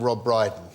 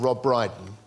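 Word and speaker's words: Rob Brydon: I've got one about Rob Briden oh just because I found something that rhymes with brighten yeah there was a young man called Rob brighten whose favorite film was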